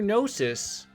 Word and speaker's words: gnosis: And, hey, your gnosis sticking in places it doesn't belong. Haha, it's a joke. It's a good joke. Because, you know, the G is silent.